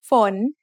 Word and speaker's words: ฝน: ฝน ฝน is a rising tone because we have a high class initial with a live syllable ending.